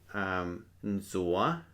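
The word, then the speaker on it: ntxuav: And then finally our word here "nzoa".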